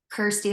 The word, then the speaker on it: Kirstie: in the realm because it rhymes with my name Kirsty like thirsty so yeah you know